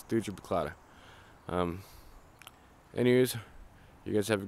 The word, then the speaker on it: Thuja plicata: I believe that's how you pronounce it. It's Thuja Plicata.